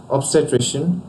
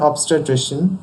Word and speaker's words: obstetrician: which are going to cover today Dan ecologist obstetrician obstetrics pediatrician Bariatrics pedagogy pedagogue demagogue and demagoguery